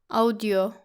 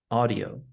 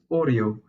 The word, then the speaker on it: audio: As you can guess, some people have a problem with the au letters and they say the word like audio. It should be audio. Audio. Don't forget that the word can also be pronounced as audio in British English. But in this course, we are focusing on the American pronunciation.